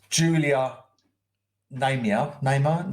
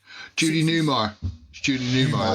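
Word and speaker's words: Julie Newmar: The woman on the way, if you go back up, Phil, Julia Naymar. Yeah. That's Catwoman out of the Batman. Judy Newmar. That's how you say it, yeah.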